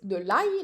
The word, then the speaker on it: ail: Garlic is de l'ail, like aïe.